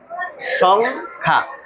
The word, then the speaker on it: সংখ্যা: আবার বলি, যদি অনুস্বারের পরের বর্ণে যদি জফলা হয় তাহলে এই অনুস্বারের উচ্চারণটা বহাল থাকে। সেই ক্ষেত্রে আমাদেরকে এটাকে পড়তে হয় সংখ্যা। সংখ্যা।